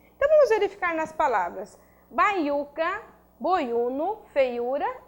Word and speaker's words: baiuca: Quando eu falo baiuca, eu tenho sílaba tônica, ó, U. Então, baiuca, sílaba prosódica, é uma paroxítona constituída por U.